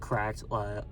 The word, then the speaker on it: CRKD: I wrote down questions for like CRKD. I guess it's pronounced correct.